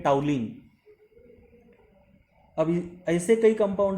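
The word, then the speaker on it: toluene: देखिए स्पेलिंग तो है टोलुइन लेकिन बोलते हैं टाउलिन।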